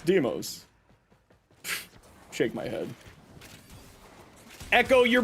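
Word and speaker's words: Deimos: I mean, do also makes sense, but no, it's Deeos. It's not Deamos. It's Deeos.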